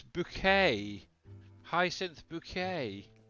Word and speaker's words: Bucket: as well Cod Hala bucket it's pronounced bouquet remember H oh I